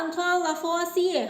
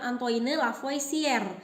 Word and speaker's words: Antoine Lavoisier: Dialah Antoine Lavoisier, harus begitu pengucapannya ya, bukan Antoine Lavoisier, karena dia adalah orang Prancis.